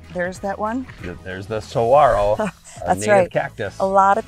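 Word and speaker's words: saguaro: that one there's the Saro native cactus a lot of people pronounce that one wrong and you don't pronounce what is it the don't pronounce the G yeah exactly it's so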